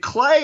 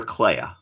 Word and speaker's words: Clea: And it's done through the device of, is it Clay or Clea? I say Clea. I say Clay. We'll go with yours, Clea, who is, of course,